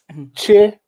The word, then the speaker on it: Chichester: Okay, I'm going to do it in 3 syllables to make it easier because it's difficult for you to get your tongue around those very English sounds. Chichester.